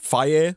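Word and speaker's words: Fage: need a little bit a little bit of fat in my life you know for the for the flavor and so 5% fat I get the is it fire is how they pronounce it f a g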